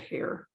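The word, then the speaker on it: Heyer: that we were bonded by the author georgette hair h-e-y-e-r pronunciation and you pronounced it just like i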